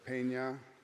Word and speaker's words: Pena: My presentation today is the Pena, that's the way it's pronounced, Pena de Brueys War.